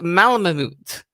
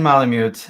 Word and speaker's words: malamute: family and his and i hope i can pronounce this correctly his malma moot and so sean welcome thank you stacy thank